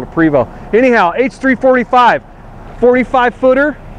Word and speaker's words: Prevost: James - anyhow but if we were french-canadian we'd probably say Provo but we're not so we're gonna call it a Prevot anyhow h3 45 45